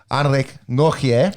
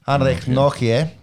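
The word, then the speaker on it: Anrich Nortje: And in my defence, the way it is spelt is Nortje. But I've watched a little bit of YouTube. I've brushed up on my Afrikaans. Anrek Nortje. Oh, that's beautiful. Much better. Anrek Nortje.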